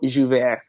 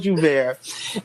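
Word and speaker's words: J'ouvert: So it's the term it is spelled Jou, which is jou, right, which means day, and Vert, which is break, which is ver. Like there's a light R at the end.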